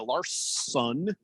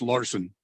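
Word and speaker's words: Larsson: nicely done by uh lars sun is that how you say his name lars son i believe it's just larson well there's two s's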